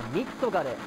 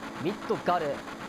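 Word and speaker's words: ミッドガル: 発音してミッドガルらしいです。ミッドガルとかじゃ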